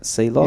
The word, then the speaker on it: Seloc: Sealock. It's spelled Sealock, SELOC.